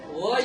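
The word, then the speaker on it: were: गई, वर you laughing, वर you laughing. कुछ students ना वेयर पढ़ते हैं, इसको वर पढ़ेंगे. यहाँ पे क्या पढ़ेंगे? इसका एग्जैक्ट राइट प्रोनाउंसिएशन, ठीक है.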